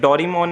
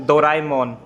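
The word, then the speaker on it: ドラえもん: अब आप खुद देख सकते हो, हम इसे बोलते डोरेमोन है, और ये क्या है इसकी राइट प्रोनाउंसिएशन? डोराएमोन, डोराएमोन। रॉन्ग, इसकी राइट प्रोनाउंसिएशन हो गई डोराएमोन।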